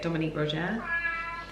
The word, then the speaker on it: Dominique Roger: And he's gone and like hung out with the team at Dominique Roger. I think that's how you say it, Dominique Roger.